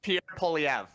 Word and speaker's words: Pierre Poilievre: it harder for specifically Pierre Poilievre. Did I say it right? Did I get it? Yeah, it's Pierre Poilievre.